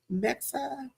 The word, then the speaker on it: Mexa: That's how you pronounce her last name, Janice? Mexa. Yeah, Julissa Mexa.